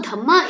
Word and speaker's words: Dhamma: Now Dhamma is the pronunciation of dharma in Pali language.